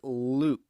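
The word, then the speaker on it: Lucke: about naming we've got greg luke and that's spelled l-u-c-k-e he's the founder and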